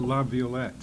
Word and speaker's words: LaViolette: I pronounce it LaViolette.